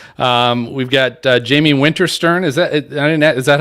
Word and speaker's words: Winterstern: is episode 150 um we've got uh jamie winterstern is that it is that how you pronounce the last name yes winter cern okay